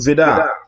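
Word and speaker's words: Vide: And so it was signed by Hans Vidar, and that's how you pronounce it. It's spelled V-I-D-E, but it's Hans Vidar.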